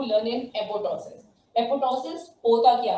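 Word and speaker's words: apoptosis: Programme cell death is known as एपोटोसिस और अनप्रोग्राम cell death is known as necrosis. यहाँ पे एक T silent है, this is known as एपोटोसिस, ठीक है।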